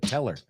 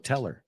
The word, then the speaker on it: tell her: Fíjate, tell her. Como cajero automático, tell her. Así suena.